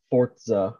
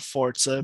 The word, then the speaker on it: Forza: the internet call it forza horizon five i don't care if that's correct the pronunciation is five zero yeah i don't care if forza has a t sound in it i refuse to believe